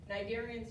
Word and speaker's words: cnidarian: Cnidarian starts with a C. The C is silent. Yeah, it's CNI, but it's pronounced cnidarian.